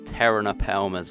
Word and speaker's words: Pterinopelma: at this parent so i think the correct way of saying this is the tehran appalmers as am i i think that's correct silent p but this male and